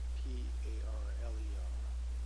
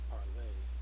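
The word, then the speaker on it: parlé: So, parler, P-A-R-L-E-R, and parler, E with the accent. They're both pronounced parler.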